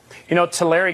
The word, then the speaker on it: Tulare: Tulare County is how it's pronounced, actually, but in Tulare County, that's fine.